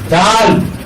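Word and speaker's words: دال: এটা পাতলা হবে, শ্বাস বন্ধ হবে, মাকরাজ 11 অনুযায়ী হরফটাকে উচ্চারণ করতে হবে। আমি বলবো, আমারটা শুনে শুনে সবাই একসাথে বলবো। ডাল ডাল ডাল ডাল ডাল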